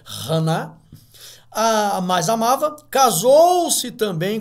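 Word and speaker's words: חנה: dava o porção dobrada para ana que no hebraico e pronuncia hanna a mais amava casou-se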